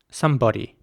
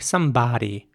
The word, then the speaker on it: somebody: would be more like somebody now not everyone would pronounce it that way once again okay not everyone would say somebody where the o actually sounds more like an ah sound somebody but many people